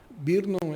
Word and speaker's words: Brno: Nós temos depois em Birnon, Birnon é brno, então é difícil pronunciar na República Checa, uma